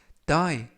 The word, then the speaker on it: dye: 여기에서 유의하실 점은 dye가 아니라 die, y 대신에 i를 써서 die는 die, 죽다 라는 뜻이 되겠고요. 그래서 이 염색하다 라는 단어와 죽다 라는 단어는 발음이 똑같습니다.